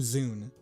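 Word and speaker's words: Zune: the makers of the Zoom device that you're holding right in your hand. That zoo rhymes with dune.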